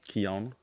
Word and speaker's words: Keyona: Keyona.